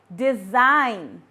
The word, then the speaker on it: design: The first word is foreign, sign, design, and assign. In all these 4 words, G is silent.